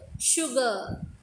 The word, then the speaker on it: sugar: Silk, ship, sugar. Okay, S is pronouncing S sound. Ship, S is pronouncing Sh sound. Sugar, S is pronouncing Sh sound.